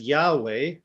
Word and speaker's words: Yahweh: you pronounce this um in the english-speaking countries we tend to pronounce it as yahweh but it is translated